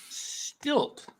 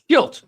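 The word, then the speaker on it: Shildt: I'm going with the San Diego Padres manager, Mike Stilt. I think that's how you say it. Is it stilt? How do you say it? Schilt. Schilt.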